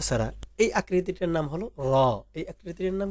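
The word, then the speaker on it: ر: এখন দেখেন এই যে নুক্তা ছাড়া এই আকৃতিটার নাম হলো র।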